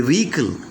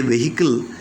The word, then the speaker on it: vehicle: or channel of communication a vehicle or a vehicle though we say vehicle the exact pronunciation is vehicle a vehicle or channel of